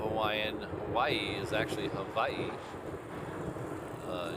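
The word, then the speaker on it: Hawaiʻi: Beach or Eva it's ew a but it's pronounced Eva in O Hawaiian Hawaii is actually Havi uh it's kind of been I don't want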